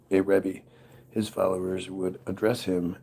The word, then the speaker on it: Rebbe: The word can be pronounced Rebbe. Sephardic friars can pronounce it Ribbi.